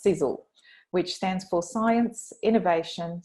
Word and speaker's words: Sisel: a company which was founded in 2006 it's pronounced sizzle which stands for science innovation success energy and